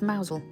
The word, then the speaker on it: Mousehole: popular fishing Village of maousel although it's spelled mouse hole it's actually pronounced mousel we potted around the